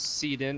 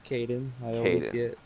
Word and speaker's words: Kayden: super shitty all right it's not Seaton it's Kaden oh well see in